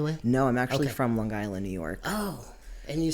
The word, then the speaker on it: Long Island: so I appreciate you put the G on there actually it's a hard G um So Long Island yes I moved to Erie Pennsylvania First in 2008.